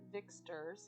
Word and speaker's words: Vyxtor: This house is his free blood Vixter's house. Vixter is spelled Vyxtor.